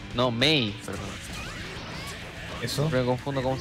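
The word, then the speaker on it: May: Sol contra Mai. No, Mei, perdón. ¿Eso? Me confundo cómo se pronuncia.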